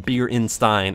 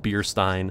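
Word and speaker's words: Beerstein: By the way, I know I'm saying it wrong. I'm saying it Bierenstein. It's just Bierstein.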